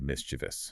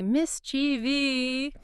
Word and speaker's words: mischievous: v o u s, three syllables, mis two vus. But so many people add an entire extra syllable. They move the emphasis and say mischievi. Why do our brains insist on adding a phantom i?